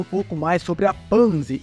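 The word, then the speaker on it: Panzy: pouco mais sobre a panzi e sim agora eu sei pronunciar o nome dela é panzi e não penzi bom a gente descobre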